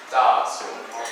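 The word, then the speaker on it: 大熊猫: Da Xiong Mao.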